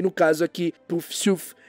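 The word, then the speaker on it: Poufsouffle: Essa eu acho que eu pronunciei direitinho, deixa eu ver. Puffsuf, isso mesmo.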